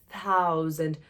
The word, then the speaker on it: thousand: Não, não é thousand, não, tá? Coloca essa língua entre o dente na hora de pronunciar o T, tá? Thousand. E quase não força o D. A língua para no céu da boca na hora de pronunciar o finalzinho da letra D. Então fica thousand. Thousand.